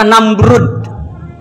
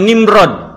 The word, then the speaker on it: Namrud: Ejaan yang benar itu adalah Namrud, pakai D. Ada sebagian yang nulis pakai Z, ada yang DZ. Bahasa Latin penyebutannya dengan Nimrod.